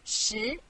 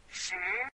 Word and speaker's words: 十: This is its syllable 十. Repeat after me 十. 十.